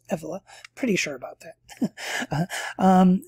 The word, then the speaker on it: Evola: named julius evela who i think most people pronounce his name wrong but anyway they say evola but it's effela pretty sure about that